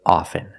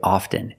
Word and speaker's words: often: words soften and often with both words I don't pronounce a t i say soften and I say often but sometimes you'll hear people say often and it's not wrong it's okay people say both often and often I prefer often now